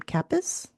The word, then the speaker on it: Kappes: This is book number four in the Tanya I think she pronounces her last name Capus and it was published in 2018.